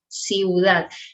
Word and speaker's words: ciudad: Okay, and ciudad, two vowels together, but they both sound ciudad.